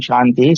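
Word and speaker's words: शान्ति: में जहु शांति अंतरिक्ष शांति शांति वहां पे कई लोगों को मैंने देखा शांति शांति बोलते रहते दंत से बोलते रहते हो कहां से बोलना चाहिए शांति ठीक है इस प्रकार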